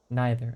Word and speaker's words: neither: You pronounce it as nigh as in night. Neither.